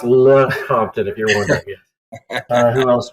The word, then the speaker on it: Lecompton: It's pronounced Lecompton, if you're wondering.